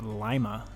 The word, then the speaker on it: Lima: and are from here it's actually pronounced Lima like a Lima Bean all offended when I